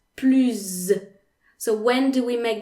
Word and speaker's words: plus: than you okay so two cases where you don't pronounce the s in plu at all if plu if plu